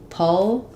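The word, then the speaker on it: pulchritudinous: Um so in pulcratinus um we have the stress is on the two syllable. So that t gets a true t like we were talking about in hotel.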